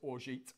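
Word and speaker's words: orgeat: And for the record, it is Orgeet on making cocktail.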